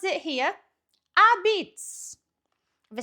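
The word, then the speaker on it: apizza: New Haven style pizza, or as we pronounce it here, a-beetz.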